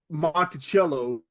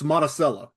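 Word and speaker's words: Monticello: I went to college it's not Montello like like uh Thomas Jefferson's estate it's monacella and then over in uh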